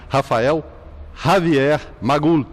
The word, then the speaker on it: Rafael Javier Magul: Tá certo, foi assim que eu me senti em casa, hoje, conversando com o nosso convidado especial, o padre Rafael Javier Magul. Correta a pronúncia?